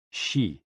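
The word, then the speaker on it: 嘻: and Xi pronounced like she which connects the whole body.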